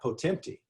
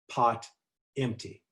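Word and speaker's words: Potempty: pronounce it they said not potempti but pot empty so people do these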